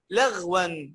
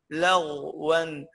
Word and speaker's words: لغوا: نجي عند الغين، في ناس بتقول لي لغوا لغوا، خطأ. خلي بالك الغين ساكنة بعد فتح، لما تكون الغين ساكنة بعد فتح أو بعد ضم أو هي مفتوحة أو هي مضمومة لا تنطق إلا مفخمة يا شباب. نطقها ازاي؟ لغو لغوا لغو، ما تقولش لغ لا لغو، شفت ازاي؟ لغو بقك كانه في حاجه من الداخل كده مليئه بيه، لغوا ولا، تمام؟